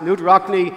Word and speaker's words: Knute Rockne: I don't know if I'm pronouncing this man's name correctly or not, but is it Knute Rockne? That is how he's pronounced. Knute Rockne, the iconic player and coach of Notre Dame,